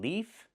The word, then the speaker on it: leaf: One leaf with the F sound with no voice.